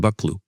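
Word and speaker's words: Buccleuch: Actually, it's pronounced Buckloo.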